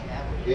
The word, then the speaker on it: Cavalry: Cavalry.